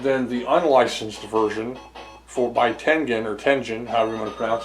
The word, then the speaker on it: Tengen: I've always called them Tengen, even though I guess it's pronounced Tengen. But because it looks, in our language, I think, the way it's spelled, T-E-N-G-E-N, would be Tengen. It rolls off the tongue.